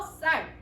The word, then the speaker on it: 쌀: 그래서 이 어두 자음군이 처음에는 브스처럼 있었다가, 그래서 얘를 브쌀이라고 발음을 했거든. 이렇게 발음을 했다가 이 어두 자음 발음이 사라지고 결국 다 뭘로 발음하게 된다? 붓살이라 발음 안 하고 그냥 된소리화 시켜서 쌀 이렇게 발음하게 됩니다.